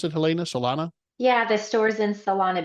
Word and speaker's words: Solana Beach: Is that how you pronounce it, Helena? Solana?